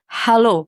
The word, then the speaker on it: halo: Almost. It's halo. Halo. Hello. So just like Hello. hello. How do you spell that? Just Halo. It's like Beyonce's hello.